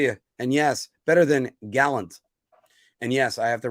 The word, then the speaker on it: Gallant: and yes better than Gallant and yes I have to raise my eyebrows whenever I say his name gallons when you say it like that Galant just rolls right off but you know and